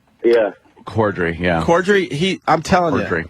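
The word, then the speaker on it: Corddry: Cordry? Yeah. Cordry, yeah.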